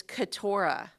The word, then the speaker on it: Keturah: His wife's name is Keturah. Keturah. Like spelled like Deborah, but with a K and a T instead of a D and a B. So it's I like Ketorah.